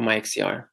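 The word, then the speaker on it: MiXCR: And then maybe coupling this also to computational error correction using Mixer, for example, or MyXCR. Some people pronounce it either way.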